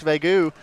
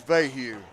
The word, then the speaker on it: Vahue: Coach Vegu. Now, am I saying it right, Coach? I think it's Vahue.